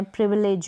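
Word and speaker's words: privilege: में है, तो प्रिविलेज, तो यहाँ पर ज एंड में आपको मिल रहा है GE और इसको हम प्रोनाउंस कर रहे हैं ज। तो इस तरीके से GE के कॉम्बिनेशन को भी हम ज प्रोनाउंस करेंगे।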